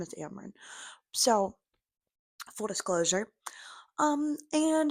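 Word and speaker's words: Amren: people pronounce that one differently I've heard them pronounce it omin which I'm like no her name is Amron so full disclosure um and as far as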